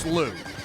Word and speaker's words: Slough: It's pronounced Slough.